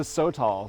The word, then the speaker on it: sotol: It's a sotol, so S-O-T-O-L.